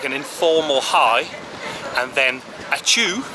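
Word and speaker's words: ačiū: informal high and then achoo which i can definitely remember because it reminds all us english folk of sneezing and atu means thank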